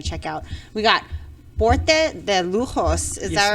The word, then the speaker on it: Porte de Lujos: you definitely want to check out we got porte de lujos is that right did i say it right